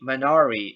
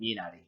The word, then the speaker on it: Minari: oh and uh if you think that i'm pronouncing minari wrong no you got me manari is not how you say the film's title it's actually minari minari is a very very uh fermented a